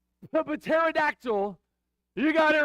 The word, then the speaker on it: pterodactyl: if you said but pterodactyl you got it right okay pterodactyl the p is silent isn't that interesting I